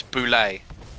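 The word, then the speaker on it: Bulette: for something like that oh apparently it's boulet oh boulet oh that's even fancier yeah it's french all right there we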